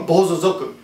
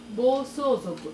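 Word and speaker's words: bōsōzoku: Then he became a bozozoku. Bozozoku, I always pronounce that wrong. Is that right, Yukari? Bozozoku? Bosozoku. Bosozoku. The so is wrong.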